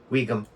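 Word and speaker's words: Ogham: It's not Ohm. It's Weegum. I'm like, I happen to know that it is pronounced Weegum.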